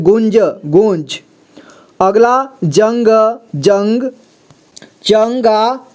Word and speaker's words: गुंज: अगला देखिए junk junk गंज यहां देखिए ग में उ की मात्रा लगा है और अं की मात्रा भी लगा है ठीक है तो यहां गुण पढ़ेंगे इसके बाद ज ठीक है गुंज गुंज अगला जंग जंग